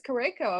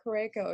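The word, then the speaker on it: Curaçao: I thought it was Curacao, and I was like, Yeah. telling my sister, she travels widely, and I was like, I'm talking to someone from Curacao, and she's like, oh, okay, where's that?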